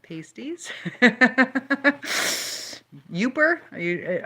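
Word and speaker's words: Yooper: meant pastries not pasties yuper are you are you saying yuper or yupper because uh a yuper is somebody from the Upper Peninsula I know I think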